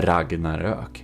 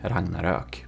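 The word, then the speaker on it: Ragnarök: he is Swedish and um it's called the Ragnarok. Ragnarok. Okay, if you want some pronunciation, there you know.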